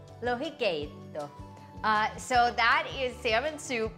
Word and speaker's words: Lohikeitto: I'm gonna make a salmon soup, and I tried to get the pronunciation correct. Lohikeitto, I think. Lohikeitto. Lohikeitto.